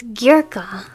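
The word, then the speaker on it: Gierke: It's Gerka H.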